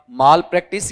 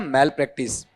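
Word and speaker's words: malpractice: ऐसे कुछ उच्चारण होते हैं जो अपन गलत करते हैं। जैसे ये बोल के बताओ चमत्कार वाला, मिराकल होता है या मिरेकल। लेकिन आपको देखना पड़ेगा, यहां पर बहुत सारे लोगों को सुनता हूं माल प्रैक्टिस और मिराकल दोनों गलत हैं।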